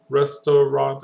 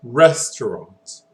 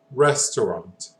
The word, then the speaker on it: restaurant: Um, here, if we do it without any emphasis, restaurant, I mean, it's very flat, so we need emphasis. And in this case, we need an emphasis on the first E here.